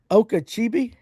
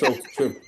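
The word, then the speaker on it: Okeechobee: Okachibi. That's He's talking about Okchobee. Oh, I thought it might just been another lake. That's wrong, but it's Okachobee.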